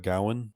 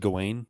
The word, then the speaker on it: Gawain: what have you, but I heard it mostly pronounced as Gowan. Oh yeah, that's what it is. That's probably what it is. Yeah, I think most of us have traditionally said Gawain, which does sound kind of dorky, but yeah, that was